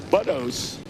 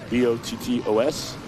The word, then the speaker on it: Bottos: All right, Curry, Karsten, Oplinger, Buskirk, Powers, Pape, Gocher, Brewer, Max, and Buttos. I believe I'm saying it right. B-O-T-T-O-S. Meg, can I get a ruling on that? Is it Buttos? Bottos. Okay.